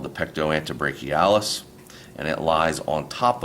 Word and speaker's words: pectoantebrachialis: That is called the pectoantebrachialis, and it lies on top of the pectoralis major.